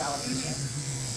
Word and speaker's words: alopecia: through cancer or just, what is it, the alopecia or however you pronounce it? Alopecia. Yes, alopecia.